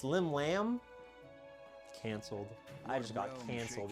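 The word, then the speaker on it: Llymlaen: Yeah, I guess it's Lim Lamb and not Limleian, which is what the pronunciation looks like.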